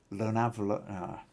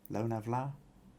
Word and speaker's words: Lonavala: Now I know I pronounced that wrong because VG has actually given me some instructions that as Lonavala, but lone, A as in la, ma or pa. So Loan, Vla as in Vladimir, or Vla as in Vladimir, maybe. So Loanvla, Lonavla mountain range.